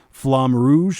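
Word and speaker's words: Flamme Rouge: eye was called I not sure how to pronounce this, but it's uh Flame Rouge, I think. Flam Flam Rouge.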